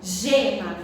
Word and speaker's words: gema: e g por exemplo gema gema se escreve com g mas tem som de J certo que o nome